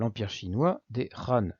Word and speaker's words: Han: l' empire chinois des ran c'est le nom de la dynastie c'est ainsi que ça se prononce aujourd'hui c'est d'ailleurs même nom